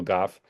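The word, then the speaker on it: Gough: It actually is Ah, pronounced Goff. It's like cough, but with a G. It's Michael Goff.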